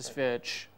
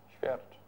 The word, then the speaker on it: Świercz: Sviec. Sviec? Świercz. Okay, I was telling you something about the Polish pronunciation, so let's put it Świercz.